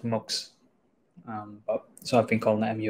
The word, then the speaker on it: MUX: them the other day the team said it's actually pronounced mugs so I've been calling mux like an idiot but